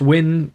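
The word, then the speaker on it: Nguyen: I think it's pronounced Win, but it's a Vietnamese name, so I'm not really got that tonality, if you know what I'm saying, so we'll just call him my guy Joe.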